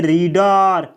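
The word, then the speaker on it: read: रीड रीड यानी पढ़ना इसका टू और थ का उच्चारण दोस्तों अलग तरीके से किया जाता है रीड रेड रेड तो आप देख सकते हैं कि टू को रेड और भी थरी को भी रेड बोला जाता है रीड रेड रेड अगला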